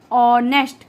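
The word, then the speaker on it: honest: तो वही कॉन्सोनेंट है, बट बच्चों इसकी जो साउंड है और इसको जो प्रोनाउंस किया जाता है वो कैसे करते हैं हम, ऑनेस्ट, कैसे करते हैं, ऑनेस्ट।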